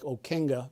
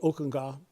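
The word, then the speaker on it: Ockenga: guy named Harold Okena or it looked like Okena but he pronounced it Okunga Dutch Oka of Boston.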